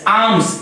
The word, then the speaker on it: alms: फिर यहां पर एक वर्ड मैं लिख रहा हूं ALMS, आर्म्स। यहां पर L साइलेंट होता है, L को नहीं बोलेंगे, L साइलेंट है, आर्म्स नहीं पढ़ेंगे, आर्म्स पढ़ेंगे, ALMS।